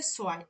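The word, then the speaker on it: zwei: বলে নুল, অনটাকে বলে আইন্স, টুটাকে বলে হচ্ছে সোয়াই, মানে এরকম উচ্চারণগত ওদের পার্থক্য আছে।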